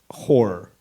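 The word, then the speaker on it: HO99O9: from a band called h09909 but they pronounce it horror so this is their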